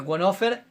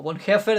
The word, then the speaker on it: Bonhoeffer: vida en comunidad de ditrich wofer o won heffer Depende como lo quieras pronunciar un pastor encarcelado durante